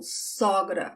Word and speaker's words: sogra: Mother-in-law, sogra. I wonder if you can notice that só is the open sound of the O, sogra.